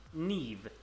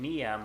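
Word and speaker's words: Niamh: oh, it's supposed, like, what was that Irish name that I don't... Yeah, like, Neve. I've been saying Niam or Niam for my entire life, and then you're just like, oh, you idiot, it's Neve.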